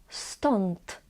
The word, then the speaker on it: stąd: If on is followed by D and T, it is pronounced as on. For example, stąd or trójkąty.